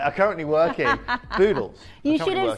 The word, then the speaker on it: Boodles: Boodles. You should have said it starts with a B and it rhymes with noodles.